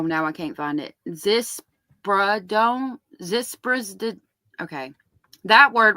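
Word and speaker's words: ziprasidone: Zispradone.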